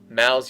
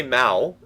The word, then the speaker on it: Mao: I say Mao. I know it sounds a little bit like Mal, M-A-L. I am not great with Chinese pronunciations, as you might expect.